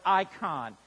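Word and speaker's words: εἰκών: Now, this word image is the Greek word icon. It's carried over into the English language and pronounced the same, although spelled differently.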